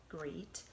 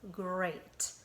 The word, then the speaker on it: great: we talked about how it has the word eat at the end even though it doesn't say great it says great like I hope you